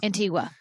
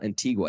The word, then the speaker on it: Antigua: I always say that how you pronounce it incorrectly. I swam with them in Belize. No. Antigua. Yeah, I went to the same you went place there? you went to, and it's not Antigua.